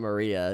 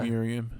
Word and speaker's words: Miriam: How do you say it's not Maria. It's Miriam.